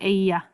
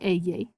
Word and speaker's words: ella: and it's called the ella. And it's pronounced ya.